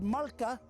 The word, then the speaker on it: malka: call this tree and the blackfella said malka they spell it m-a-l-k-a and the white fellas wrote it down as mulga so mulga comes from traditional language name malka the timber from this